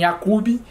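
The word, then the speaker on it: Yaqub: nascer yakob e Omar Eu já vi outras pessoas falando em yakub em Omar mas eu vou me dar o direito aqui de utilizar estas duas pronúncias yakob e Omar que são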